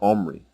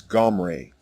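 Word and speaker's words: עמרי: It is not an E vowel as in the version Omri. The correct way to say the king's name is Gomre.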